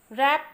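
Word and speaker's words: wrap: रैप में W.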